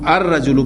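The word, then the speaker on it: الرجل: या शमसी हर्फ है ये शमसी हर्फ है लिहाजा इसको हम अर रजल पढ़ेंगे अलिफ लाम का लाम प्रोनाउंस नहीं होगा और डायरेक्ट वो जो हमजा है वो रा के साथ मिलेगा अ रजल रजल के मानी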